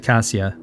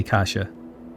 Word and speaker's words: Cassia: I said Cassia, but I need to say Kasha. I think Kasha is the proper pronunciation of that.